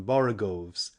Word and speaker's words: borogoves: rhyme with groves again the first o in borogoves is pronounced like the o in borrow i have heard people